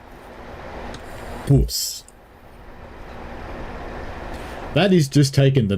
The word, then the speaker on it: bws: out of the English it's the spelling of the word word bus it's spelled bws in Wales bus that is just taking